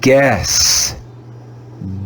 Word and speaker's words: guess: after the letter g again the vowel u will be silent we'll read this word as if it was written g e s let's read the word together guess guess guess now let's